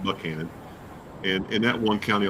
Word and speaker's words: Buchanan: It's spelled Buchanan, but they call it Buchanan.